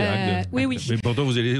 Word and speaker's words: Agde: Donc là, Lidl cherche un ou une adjointe manager de supermarché à Agde, pardon, je prononce mal, c'est ça, dans l'Hérault, voilà. Oui, c'est Agde.